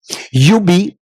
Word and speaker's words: Ubee: Un gars persévérant avec une belle équipe aussi Antoine qui va nous parler de Ubi. Ubi je vois le dire comme faut hein. C'est UBI. Ouais on le prononce UBI.